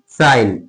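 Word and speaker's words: sign: साइलेंट। जैसे साइन एस आई जी एन।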